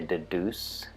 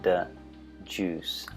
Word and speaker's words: deduce: Now, Americans say deduce, but we often have a j sound in there, deduce, as in orange juice, deduce.